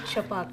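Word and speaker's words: Chhapaak: Finally, with Chapak, that's how you pronounce it, because it took me like 10 minutes to put the pronunciation.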